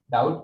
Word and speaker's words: doubt: doubt කියද්දි B එක silent. හරි මේක doubt කියලා කියන්නේ නැහැ doubt. B සද්ද කරන්නේ නැහැ. අල් බයන්නක් සද්ද වෙන්නේ නැහැ.